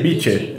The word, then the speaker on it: Bicce: Mama Bicce *risos* É praia em inglês Não, é B-I-C-C-E (soletração) É "bique" né? (a pronuncia) CC faz som de QUI "Bichê", é isso aí Mama Bichê Mama Bichê Eu não vou falar isso...